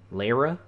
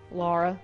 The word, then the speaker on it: Lara: I'm with a girl, that's how she spelled her name. Yeah, how did she pronounce it? Laura.